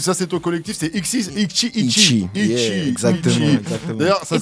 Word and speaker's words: Ixi: Ixi, ça s'écrit I-X-I et ça se prononce Ichi parce que le X en portugais on dit chi. On se prononce che.